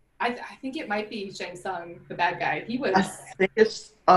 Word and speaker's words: Shang Tsung: I think it might be Shang Tsung, the bad guy.